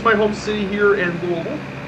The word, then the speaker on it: Louisville: here it is guys we're in louisville or louisville or louisville or louisville usually there's many ways uh you can pronounce it just don't call it like month don't be don't be in egypt and call it lewisville there is a good